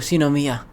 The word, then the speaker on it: Shinomiya: Troop member Shinomiya is on the scene. Chief Shinomiya's legacy in the flesh. Kikoru Shinomiya.